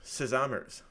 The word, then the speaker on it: Sesamers: of your new concept, Sesamers. Yeah. Did I pronounce that right? Yeah, you can pronounce it this way. We tend to say sesame, like so sesamers, Yeah. but whatever works for you.